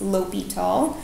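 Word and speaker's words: L'Hôpital: Okay, so that's how you pronounce this, L'Hopital. And actually sometimes there's an S here too, like hospital, but it's pronounced the same.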